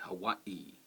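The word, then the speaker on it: Hawaiʻi: uh oh that stop that stop between the uh and the O is what you also do with Hawaii so it should be Hawaii so that is how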